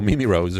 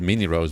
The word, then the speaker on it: MIMIIROSE: So I believe let me pronounce it correctly. So Mimi Rose, right? Maybe I said Mini Rose before.